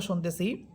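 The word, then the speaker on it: شين: এখানে আমরা সিন এবংশিন এই দুইটা হরফের উচ্চারণের পার্থক্য শুনতেছি।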